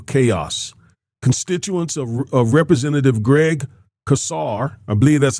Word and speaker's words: Casar: Constituents of Representative Greg Casar, I believe that's how you pronounce his name, are severely impacted by the